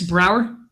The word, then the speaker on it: Brouwer: so is it Brower it's spelled it's it's pronounced exactly that way the U is just an extra extraneous vowel in there fantastic fantastic so what